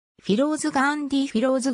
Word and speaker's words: フィローズ: 血縁関係はない英語ではフェローズと発音するはヒンディー語の発音に従いフィローズと評価するフィローズ